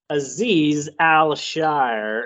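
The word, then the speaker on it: Azeez Al-Shaair: uh last free agent we'll go over is Aziz al-shire and that is how it's pronounced because it looks weird but I heard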